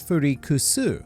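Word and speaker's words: Freecss: whilst gone's name is furikusu with an s sound instead of a zed or a z if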